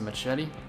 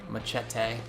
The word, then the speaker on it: machete: Oh, it's a machete? Machete. I'm just kidding. I know it's pronounced machete.